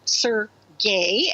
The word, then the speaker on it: Sergei: to sad strange places sergei pronounced sir gay as genius russian filmmaker